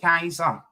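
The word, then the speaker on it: Keiser: See, when I started appearing in the chats, obviously my name is spelled K E I, right? K E I S E R. But it's actually K AI for Kaiser, right?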